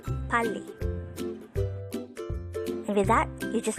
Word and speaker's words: 빨리: Pali could be divided into two syllables. Pali.